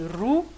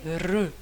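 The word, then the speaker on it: ऋ: Donc, certaines personnes vont prononcer ru, certaines personnes vont prononcer ri. Et en réalité, c'est ni ru ni ri. Elle est re. Donc c'est une chose entre les deux.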